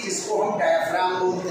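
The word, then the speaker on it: diaphragm: बोलते हैं, डायफ्राम क्या, डायफ्राम जी साइलेंट है, जैसे एस्मा में टी एच साइलेंट है, जैसे नाइफ में के साइलेंट है ना साइलेंट, ऐसे ही डायफ्राम में जी साइलेंट है, डायफ्राम फ्राम जी लिखो चाहे मत लिखो, स्पेलिंग बोलो चाहे मत बोलो, नहीं बोलना नहीं, बोलना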